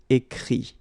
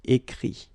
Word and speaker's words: écrit: Écrire, to write, will become écrit. Okay? Remember that phonetically this final T doesn't exist. Okay? So the sound will be only this I, écrit.